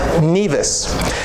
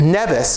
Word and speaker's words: Nevis: the people of the island took the first syllable and now parlor island Nevis however when James Hamilton about whom we're going to learn later named the estate he named it nevus after the birthplace of his father why the